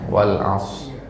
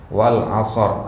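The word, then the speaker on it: والعصر: ya Nah Wal As ya misalkan baca begitu ya Wal as Nah ya Enggak boleh harus meskipun wqaf harus ada hurufnya di situ ya harus ada bunyi rnya sedikit Nah jadi bagaimana sebenarnya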